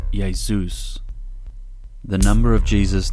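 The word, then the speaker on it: Ἰησοῦς: and here is the Greek version which is pronounced yaus the number of Jesus name in Greek has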